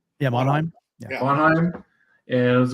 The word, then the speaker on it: Monheim: Is that how you pronounce his last name? Yeah, Monheim.